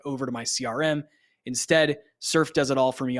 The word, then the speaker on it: SRFE: out the tool is called surf and it's spelled srfe it's a Chrome extension